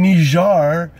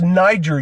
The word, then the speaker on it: Niger: Yes, well, we had some people killed in Niger. It's Niger, you cockbiters, and if it looks like fucking nigger, that ain't my fault. It's not pronounced that way. Look it up in the dictionary.